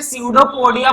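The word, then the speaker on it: pseudopodia: ठीक है, P silent होता है इसमें, स्यूडोपोडिया बोलते हैं। पी क्या होता है, साइलेंट होता है पी।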